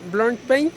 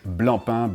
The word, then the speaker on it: Blancpain: For some, again, the magic of the French language, Blancpain, because I fully understand the desire of pronouncing this C, but no, it's a silent C, and as a little